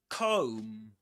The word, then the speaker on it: comb: This is again Comb. Comb. The B silent at the end.